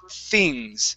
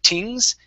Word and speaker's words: things: So let's practice the word things. Make sure to pronounce a TH instead of tings. It's things. Things.